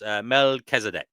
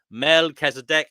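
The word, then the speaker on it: Melchizedek: So, it's Melzdc. Okay. Oh, right. So, um, D Prophet says, "I agree, Divine." That's how we pronounced it in church.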